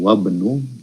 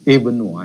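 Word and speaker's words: ابن: Nah, hamzah wasol itu hukum ketika dibacakan di depannya itu ada huruf seperti wa ini, wab itu hilang dia. Langsung kita masuk ke huruf ba-nya itu, wabnu yasirin. Nah, itu pengucapan ketika kita membaca Al-Quran juga seperti itu ya. Tapi beda ketika di awal tadi, ibnu, itu Iya. kita bacakan hamzahnya itu, karena dia belum kemasukan huruf lain. Jadi Ibnu Ammarin Tolibun wabnu Yasirin tajirun.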